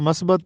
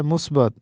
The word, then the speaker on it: مثبت: درست تلفظ ہے اخراجات۔ یہ درست تلفظ ہے مثبت، ہم اس کو مثبت پڑھتے ہیں، حالانکہ درست تلفظ ہے مثبت۔ ایک اور لفظ ہے